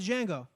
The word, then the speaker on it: Django: I think it's Django, D silent.